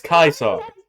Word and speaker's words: Caesar: The dude named Caesar pronounces his own name as Kaiso.